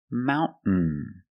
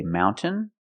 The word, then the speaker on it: mountain: understand D this trade example mountain mountain you can say mountain or Mountain this gril tablet speaks